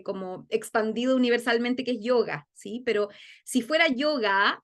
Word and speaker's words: yoga: sonido Entonces por ejemplo la palabra que todos nosotros decimos yo cierto yoga realmente no es yoga es yog tiene una a al final pero es casi muda yog yoga yoga ven pero no